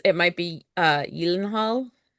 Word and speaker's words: Gyllenhaal: Are you thinking that it's it might be uh, Yilenhal? I don't know. I don't know. I've always I've always heard it pronounced Gyllenhaal, but you never know.